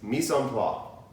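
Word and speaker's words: mise en place: like a real Texan the correct pronunciation is me some flaw can you say and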